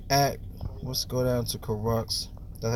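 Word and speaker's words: Kurucs: Now it's going to be dependent on DeMar Carroll's spot, but look at, let's go down to Crux. That's how you pronounce his name.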